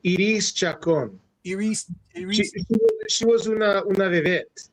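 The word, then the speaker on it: Iris Chacón: You say proper pronunciation. Iris Chacon.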